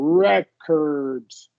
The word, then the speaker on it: record: Rec record and then in the noun form make sure we're stressing the first syllable records Rec recors recor yeah